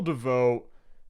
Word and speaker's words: Davout: As the fighting raged on in and around Aderklaa, Marshal Davout... Oh, it's Davout. I see. Okay, to me, that's not how Davout is spelled, but whatever.